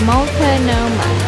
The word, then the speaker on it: Multnomah: Okay, this is how you say Multnomah.